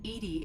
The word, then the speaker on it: EDI: are you named Edie Edie is the phonetic pronunciation of EDI that is an acronym for enhanced defense intelligence your location where are